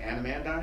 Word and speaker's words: anandamide: So cacao, what's interesting, also has constituents in there, theobromine and a terpene called, I can never pronounce it, anandamide.